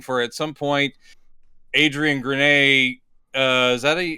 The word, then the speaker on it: Grenier: But Arsenal would imply, like, I kept waiting for at some point Adrian Grenier. Is that how you pronounce his name?